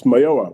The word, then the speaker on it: Mayowa: It's Mayowa, but that's a B+.